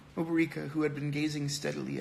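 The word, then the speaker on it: Obierika: Oberika, I said Oberika when I pronounced it, but Oberika, who had been gazing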